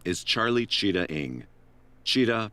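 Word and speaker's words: Chitat: Cheetah pronounced Cheetah and Ing pronounced Ing."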